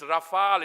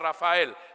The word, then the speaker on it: Rafale: I keep telling them, it's Rafale, it's not Rafael. Rafael is a Latin American name.